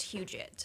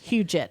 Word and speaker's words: Huget: hudsites but it's pronounced huget huget i have to remember like hugh jackman and there you go